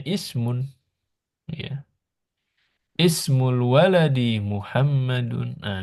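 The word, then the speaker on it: اسم: kayak ini misalkan bacanya Ismun ya ismul waladi Muhammadun nah ini kalau di awal bacanya Ismu Ya tapi kalau di tengah tinggal di wasal kalau di tengah langsung wasmu ah kalau di tengah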